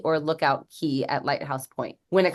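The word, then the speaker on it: Lookout Cay: Cast Away K and Lookout K just like anything down in the keys that c a y is pronounced key so you're going when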